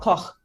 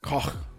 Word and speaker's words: Koch: Is it Koch? It's like you're hacking up a hairball. Koch. Koch.